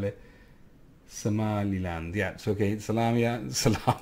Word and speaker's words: Somaliland: Somali is how you spell it. Somaliland, yeah, so okay, Somaliland, not Salamiland.